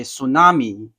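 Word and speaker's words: 津波: Same in English, we say tsunami, but in Japanese, it's called a tsunami, it's tsunami, right? Tsunami. So the tsu is, you can start with like cats, then cats, tsunami, sushi.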